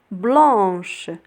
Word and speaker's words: blanche: blanche blanche. vendredi vendredi. إذا كتلاحظوا blanche s'écrit avec AN كتكتب ب AN.